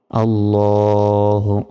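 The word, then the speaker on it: عَلَى: সল্লি আলা, অনেকে আলা বলি, এই যে দেখুন সরিয়া লয়কারে আলা। তো এইভাবে বললে হবে না, এখানে আইন অক্ষর রয়েছে, আইনের উচ্চারণ গলায় চাপ দিয়ে উচ্চারণ করতে হয়।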